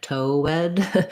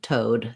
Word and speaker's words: toad: see it like this my tendency is maybe to think more like toe wed two syllables and it's not two syllables it's just one toad so i just have